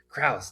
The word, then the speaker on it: Crouse: So Cruz, welcome to the show. Good morning. Good morning. It's actually pronounced Krauss, but thank you.